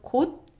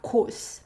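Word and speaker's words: 곳: This one is a different word, but they're pronounced exactly the same. So kot and kot. Kot. It's not kos, but it's kot.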